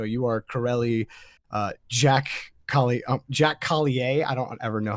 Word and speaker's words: Collier: It's like, no, you are Corelli, Jack Jack Collier. I don't ever know how you pronounce it. It's Jack Collier, not Collier. It's not French, is what I'm told.